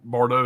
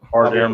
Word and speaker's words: Bardem: Javier Bardot. How you say it? Bardem.